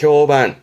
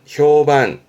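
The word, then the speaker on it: 評判: 평판 발음이 반갑니다. 반. 이때부터 조심하세요. 평판에 효반. 효반.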